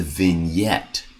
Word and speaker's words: vignette: It sounds very foreign and exotic. It's the vignette.